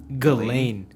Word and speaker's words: Ghislaine: ] was saying it the same way it's galen galen i just read it i'm pretty sure